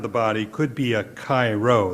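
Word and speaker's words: Chi-Rho: body could be a Cairo that's spelled c-h-i-r-h-o an early symbol of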